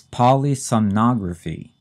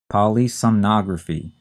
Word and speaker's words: polysomnography: a sleep study and this is kind of a tricky one to say and spell it's polysomnography polysomnography p o l y s o m n o g r a p Hy and this is